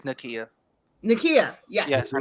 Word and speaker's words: Nakia: I think Bruno and Nadia, because I don't know how to pronounce people's names, would work out. I think they would work. Oh, her name is Nakia.